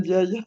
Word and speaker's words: Ndiaye: alors je dis Madame Ndiaye. Et d'ailleurs, le N se prononce pas, d'ailleurs, Ah Ah en oui. pardon, parenthèse. alors Ndiaye alors. Et les N se prononcent pas, en fait.